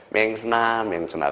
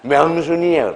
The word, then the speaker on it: 명순: 그래서 맨날 김영삼이가 발음이 안 돼서 뭐예요? 맹순아 그래서. 그러면 그 영부인이 뭐라 그래? 나는 맹순이가 아니라 명순이에요.